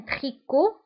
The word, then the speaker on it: tricot: فانتبهوا هنا، تريكو تكتب بالتي في آخر الكلمة ولكن لا ننطقها، donc un tricot لا ننطق تي.